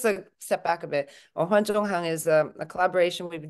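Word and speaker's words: 文化纵横: Wenhua Zongheng.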